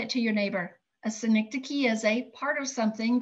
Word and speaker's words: synecdoche: How many have to break that word apart into syllables in order to say it? It's a cool word. It's a synecdoche.